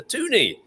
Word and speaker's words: toonie: So the $2 coin in Canada is the toonie. So there you go. Learn something new every day. Excellent. Two loonies make a toonie, of course, and it rhymes with loony there.